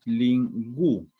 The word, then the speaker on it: lingüística: Pero hay una diéresis acá. Entonces, cuando lo pronunciamos, decimos lingüística. No decimos lingüística. Acá el sonido se pronuncia por lo de la diéresis.